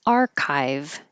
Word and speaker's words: archive: And archive, this CH sounds like a K.